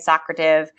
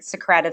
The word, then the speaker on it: Socrative: about Socrative I put different people say it differently some people say socrata v' I say it like Socrative seminar or Socrative questioning and so that's why I pronounce it that way I am going to